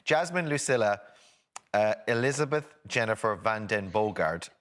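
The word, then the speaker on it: van den Bogaerde: lucilla uh elizabeth jennifer van den bogard am i pronouncing that right bogart that's perfect thank you very much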